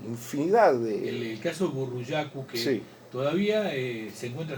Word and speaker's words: Burruyacu: El quechua es un idioma de acentuación grave. o sea, se acentúa en la penúltima sílaba. El que se acentúa en la última sílaba es el guaraní, ¿sí? O sea, no corresponde decir burruyacú, corresponde decir burruyacu. Burro, el burro viene de burro, Sí, sí.